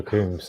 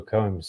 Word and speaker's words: Coombes: right you did honestly you got a spot on joshua coombs and a lot of the time it is um i find in america it's usually pronounced joshua combs so you actually you're